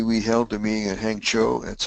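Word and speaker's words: Hangzhou: It's a brief report, but um Bobby, we held the meeting at Hang Cho. That's how it's pronounced. Hang Cho, not CHO.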